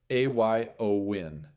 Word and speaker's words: Éowyn: Aowin pronounced a yo win.